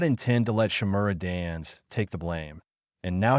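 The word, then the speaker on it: Shimura Danzō: I said it wrong, it's Shimura Dans.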